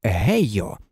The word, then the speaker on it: Гейха: тоді коли чимось задоволений його звуть гейха це ім'я він вимовив як гейо у мене є милий